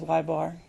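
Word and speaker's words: ȳ: For a sample, the notation is the capital Y with an over bar, and that's just pronounced as Y bar.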